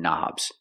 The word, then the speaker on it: knob: turn knobs we see the word knob has a k and the K is silent don't pronounce the k start with the n Sound knob one knob two